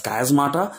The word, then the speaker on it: chiasmata: C-H-I-A-S-M-A-T-A. Some pronunciate it as chiasmata. Some pronunciate it as chiasmata. Both are correct.